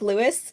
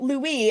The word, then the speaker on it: Louis: times that Tom Cruise said Louis' name like Lewis. I recognized it at least twice, and I was like, oh, do I have the name wrong? Because I wrote Louis, and I was like, wait, is it Lewis?